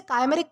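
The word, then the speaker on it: chimeric: तो दोस्तों आज का हमारा सबसे पहला वर्ड आता है कायमरिक। दोस्तों इसे काइमेरिक प्रोनाउंस किया जाता है जिसका मतलब होता है काल्पनिक या फिर असंभव।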